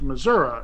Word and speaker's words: Missouri: corrected my speech and told me it's pronounced Missouri in these parts and I was